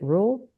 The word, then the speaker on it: Ruel: and I'm recording with an an do you pronounce it rule yes rule yeah okay rule I always do this this is like a